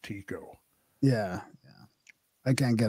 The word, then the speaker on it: Tycho: And from my scholarship days, I recall that Tycho was actually pronounced Tico. Yeah, yeah. I can't get away from Tycho.